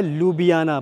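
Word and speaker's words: Ljubljana: और इनकी जो कैपिटल सिटी है वो है लुबियाना। बहुत थोड़ा जब आप इसको स्पेलिंग पढ़ोगे अल्फाबेट्स पढ़ोगे तो कंफ्यूजन हो सकती है। बट लुबियाना इसको नॉर्मली प्रोनाउंस कर सकते हैं इजी वे में।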